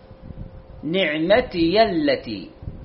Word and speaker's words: نعمتي: كلمة نعمتي، البعض خطأ يقول اذكروا نعمتي بدون فتح الياء، نعمتي التي، هذا الصحيح، النطق الصحيح للكلمة، اذكروا نعمتي التي أنعمت عليكم وأني فضلتكم على العالمين.